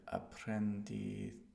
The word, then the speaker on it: aprendizaje: Ya tengo experiencia en el aprendizaje. So I know the Z is pronounced like TH. Aprendizaje.